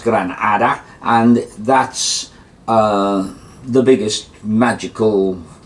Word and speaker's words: Granada: And then, so gran, great, or big, Gran Hada is pronounced Granada, and that's the biggest magical being of them all.